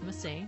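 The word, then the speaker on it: Masae: My name is Massey, not Massey. Although I do like the C, it's not Massey.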